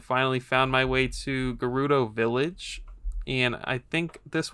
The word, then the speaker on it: Gerudo: where I realized that I had been pronouncing Gerudo wrong. I've always said Gerudo, but one of these voice actors said Gerudo.